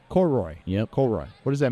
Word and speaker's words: Koroyd: Koroyd. Koroyd.